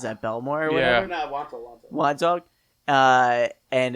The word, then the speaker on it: Wantagh: Yeah, it's a silent G.